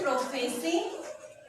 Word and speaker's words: prophecy: P-R-O-P-H-E-C-Y. Write down the word on your rough notebook. Listen carefully its pronunciation.